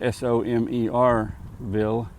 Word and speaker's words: Somerville: And that's s o m e rville, not s u m e s u m er.